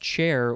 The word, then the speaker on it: char: because the word char it's actually pronounced chair with an e means chore i forgot